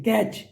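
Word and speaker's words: catch: silent है सिक्स देखिए कैच तो इसमें टी साइलेंट है टी की साउंड नहीं आती सेवन देखिए आर आर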